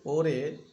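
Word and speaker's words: 올해: নিয়ন গত বছর ওরে ওরে মানে এই বছর ওরে রিওয়লটি হিয়তের কাছে গিয়ে উচ্চারণ হবে ওরে এই বছর নেয়ন মানে আগামী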